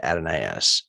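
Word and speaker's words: Adonais: being an english major they always pronounce it at an ass but only in this only in the shelley poem it's adonis in greek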